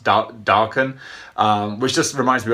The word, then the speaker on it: Daken: something else but uh he develops the nickname deacon or darken is as apparently is it's supposed to be pronounced darken um which just reminds me of like a